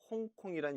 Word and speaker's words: 香港: 따라서 한국어 도금은 향항, 중국 표준어 발음은香港이지만 이香港의 광동어 사투리 발음이 바로 홍콩입니다. 그래서 오늘날은香港이 아니라 홍콩이란 이름으로 더 잘 알려져 있지요.